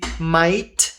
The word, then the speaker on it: might: Esse aqui might. A gente não lê o G, não lê esse H aqui. É um I com som de a, que é o o i do inglês.